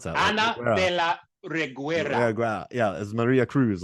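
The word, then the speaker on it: Ana de la Reguera: Like, I don't know, Anna de la Reguera. I just messed up her name. I even learned how to pronounce that. Anna de la Reguera.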